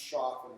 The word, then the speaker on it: Choffin: By the way, it's pronounced Choffin according to the people who run the trust, and I suspect they would know.